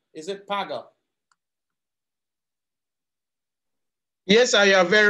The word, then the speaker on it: Paga: ob can you tell me how that is pronounced p-a-g-a is it paga yes i am very right paga now watch